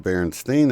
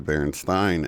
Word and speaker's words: Berenstain: just a detail but they didn't pronounce it Berenstein they pronounced the Baron Stein and anybody who's seen